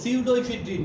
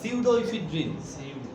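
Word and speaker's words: pseudoephedrine: সিউডোইফিড্রিন, বি এর উচ্চারণ হবে না, সিউডোইফিড্রিন, সিউডোইফিড্রিন।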